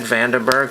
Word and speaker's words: Vandenberg: we have Ed Vandenberg it's spelled vanno Berg but it's Ed Vandenberg so I'll get him